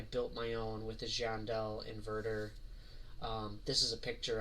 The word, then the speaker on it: Giandel: one brand called, again, I don't know how to pronounce it. I pronounce it Giandel, Giandel.